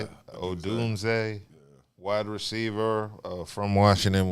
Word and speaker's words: Odunze: Is that how you spell it? Say it. Odunze.